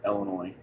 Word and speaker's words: Illinois: here in illinois and yes i pronounced the s on the end of illinois even though i was born and raised here in illinois um look at that